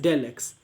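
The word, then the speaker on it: ∂x: और इसको बोलते हैं डेल x, मतलब चाहे ऐसे स्मॉल डी एक्स लिखा हो या फिर ये सिंबल दिया हो, इसका तो मतलब ही डेल है, आप इसको प्रोनाउंस करोगे एज डेल एक्स।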